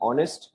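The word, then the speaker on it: honest: जैसे कि आप लोगों ने सुना होगा, जैसे कि ऑनेस्ट, जैसे कि ऑनेस्ट में क्या होता है, आप एच को साइलेंट रखते हो, प्रोनाउंसिएशन कैसे होता है, ओ से होता है, राइट।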